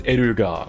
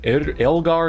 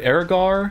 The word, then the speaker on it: Vairina Erger: In Japanese, it's Eruga, which is much easier. Elgar is how we pronounced it before this, but Ergar, I guess, is how we'll go with it for English.